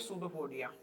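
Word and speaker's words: pseudopodia: तो ये जो हाथ पैर अंदर फैलाए उनको हम बोलते हैं सूडोपोडिया। ठीक है, सूडोपोडियम ने इसका नाम दे दिया, पी साइलेंट रहता है, सूडोपोडियम ने इसको बोला।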